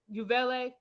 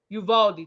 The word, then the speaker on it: Uvalde: state lawmakers in response to the um you you valet am I saying it right Uvalde thank you with U.S mass shootings on a